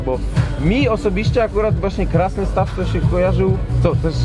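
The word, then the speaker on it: Krasnystaw: mi osobiście akurat właśnie Krasny Staw to się kojarzył, to też się dowiedziałem, żeby właśnie dobrze wymawiać, że Krasny Staw razem. Razem, tak. Nie Krasny Staw, tylko Krasny Staw.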